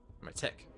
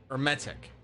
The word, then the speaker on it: Hermetic: Silent H, emphasis on second E. Hermetic.